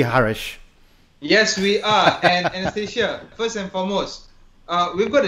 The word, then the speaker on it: Annastasia: You say I'm pronouncing it right, yeah? Anastasia.